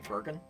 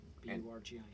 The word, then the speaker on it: Burgin: My special guest today is Rockin' Johnny Burgin, and he will be tonight at Lions Bay at a house concert there in North Vancouver, British Columbia.